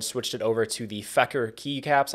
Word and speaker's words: Feker: it over to the fecker key caps I think that's how you pronounce it it's f EK ER fecker i think so these things